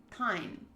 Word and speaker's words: tine: Oh, each little prong on a fork is a tine, pronounced like mine.